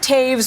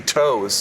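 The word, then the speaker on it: Toews: So, you got a lot of Taves, Menanite name, and a lot of that in today's entry in the And most people mispronounce it, too. They say toes.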